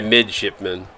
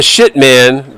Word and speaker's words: midshipman: The midshipman. Oh, sorry. Midshipman. Not the shit man. The midshipman. There's a P. There's a P in there, Dickie. There's a P in there. Shipman.